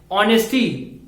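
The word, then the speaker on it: honesty: हमारा कॉन्सोनेंट है, लेकिन H जो है यहाँ पे साइलेंस है। हम लोग यहाँ पे इसको प्रोनाउंस कर रहे हैं ऑनेस्टी को, तो O का साउंड आ रहा है।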